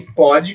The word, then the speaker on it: pode: Só que uma delas o som é aberto, o outro é fechado, mas o principal motivo